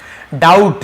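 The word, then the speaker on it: doubt: spent हो जाता है डाउट यहां पर भी बी साइलेंट है डाउट पढ़ेंगे डाउट नहीं पढ़ेंगे ठीक है डाउट डाउट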